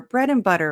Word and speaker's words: bread and butter: Bread and, notice that we reduce the D and. It's very common in American English.